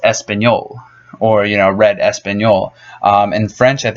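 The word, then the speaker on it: español: in English but you denied of Lee it's pronounced espanol or you know read espanol in French I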